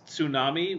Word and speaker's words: tsunami: few English speakers who pronounces tsunami with the T at the begin at